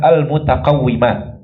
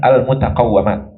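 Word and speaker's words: المتقوِّمات: Sehingga cara baca yang benar adalah al-mutaqawwimat, bukan al-mutaqawwamat.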